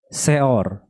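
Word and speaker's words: שאור: Sekarang kalau ragi bahasa Ibraninya adalah seor. Coba kita lihat tulisannya bagaimana sih? Seor. Ini. Seor ya. Tulisannya adalah ada huruf sin, ada tulisan alef, ada huruf res, ada 3 kata. Seor, bacanya seor. Coba kita lihat ya.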